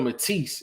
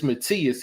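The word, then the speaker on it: Matías: One of the guys said, you pronouncing it Subriel Matisse. It's Matias.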